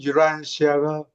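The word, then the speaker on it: Urantia: 그 뭐 채지피티나 이런데도 우란티아라고 나오더라고요. 우란시아 아시 우란티아 우란티아 예 그거 영어로는 유란시아가 제일 가까워요.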